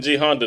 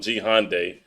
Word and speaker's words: G Honda: Why was he be fucking G Honda name up? It's G Honda. She called him G Hyundai, which is spelled totally different.